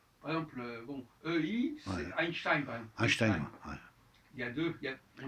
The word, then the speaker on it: Einstein: et on prononce le A, C'est vrai. alors qu'il n'y a pas de A. Ah, c'est vrai. On dit Tu dis Einstein. Einstein, tu dis 2 fois A, et le A n'est pas écrit.